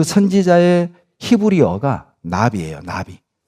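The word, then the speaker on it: נביא: 여러분, 구약에 선지자, 예레미야 선지자, 이사야 선지자 할 때 그 선지자의 히브리어가 나비예요. 나비. 버터플라이가 아닙니다. 발음으로 나비입니다.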